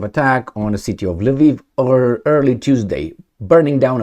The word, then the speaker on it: Lviv: the direction of the Lviv region, or Lvov. Lvov depends how you want to pronounce it, Russian or Ukrainian.